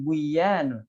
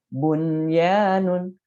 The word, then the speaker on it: bunyanun: Jadi bukan buyanun, tapi bunyanun. Bunyanun.